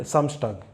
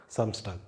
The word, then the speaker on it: Samstag: And Samstag, that is Saturday, Samstag.